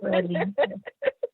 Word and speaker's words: Freddi: So do you get that as well, where people may not know how to pronounce it because it's okay? So that's I still get Freddi. It's like it's Freddi.